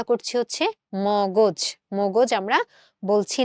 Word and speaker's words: মগজ: এই জন্য আমরা এই মটাকে ম রেখে পরের গটাকে ওকার করে দিয়ে আমরা এই উচ্চারণটা করছি হচ্ছে মগজ।